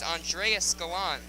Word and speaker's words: Andrea Scalan: announcer Richard bagarski that the pronunciation is Andrea scalan so again I've been